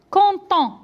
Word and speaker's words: quand on: le terre, alors regardez, عندنا هنايا quand عندها دي وعندها ان كتكون عندها دائما واخا هي مكتوبه دي كنطقوها تي. هذه واحد لا ليزون كتكون دي كا بارتيكوليي ولكن خصنا نردوا لهم البال. كونطون دونك كتقرا تي كونطون مي دي زونغري دونك